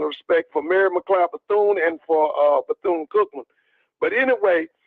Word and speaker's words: Bethune: So let me just tell you now, Bethune.